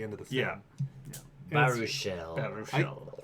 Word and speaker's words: Baruchel: Baruchel. I keep forgetting. I keep pronouncing it Bechamel.